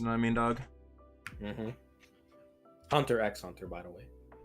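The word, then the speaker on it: Hunter × Hunter: what I mean dog Hunter x Hunter by the way at least I didn't pronounce it Hunter cross Hunter I heard somebody say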